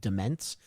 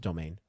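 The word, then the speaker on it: demesne: It sounds like it's pronounced demence, but no, it's pronounced domain.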